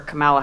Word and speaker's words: Kamala: thinking of voting for Camala Harris uh camela Harris sorry that the American pronunciation gets into your head and distorts it but um and uh